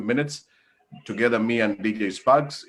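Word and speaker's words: Spaqz: DJ Spark, how do you pronounce DJ Sparks? S-P-A-Q-Z, but it's pronounced Sparks.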